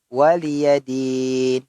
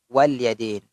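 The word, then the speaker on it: وَلِيَ دِينِ: Ang pagbigas dito ay waliyadin. Hindi po kasi may yung ibang nagbibigkas o nagbabasa sa litra na ito or aya na ito ay walyadin. Ito po ay ang kanyang litra ay lam. Lam at saka ang kanyang vowel kasra, tapos ang kasunod niya ay ya al-maftuha.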